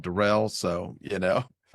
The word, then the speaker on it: Darrell: I'm doing well, but you know, people might know I prefer to be called Derell.